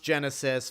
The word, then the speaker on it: Genisys: I know it's pronounced Genesis, but they chose to spell it Genisys, so I'm going to call it Genisys.